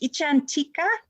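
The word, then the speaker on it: icchantika: And they like to call us, there's this word, it's a foreign word, it's pronounced ichantika.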